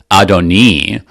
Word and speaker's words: Adoni: not referring to God they change the last vowel so that you don't get confused and think that that refers to God because even even just